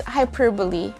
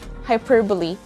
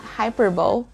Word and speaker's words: hyperbole: fourth grade or fifth grade how do we pronounce this word is it hyperbole or hyperville the answer is hyperbole again hyperbole it's not hyperbole and that's the end of today's very short